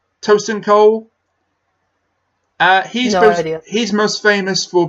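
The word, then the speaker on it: Tosin Cole: by I applaud as one get this guy's name wrong I think it's ocean cold is tio si n toastin Cole he's he's most famous for being in a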